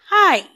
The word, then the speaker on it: aisle: channel what's with shalafermi what for today is pronounced hi hi word for today is pronounced hi hi